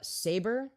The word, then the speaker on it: Saber: their own specialty uh it's uh saber like the word oh the sword oh oh like a lightsaber okay saber saber Empire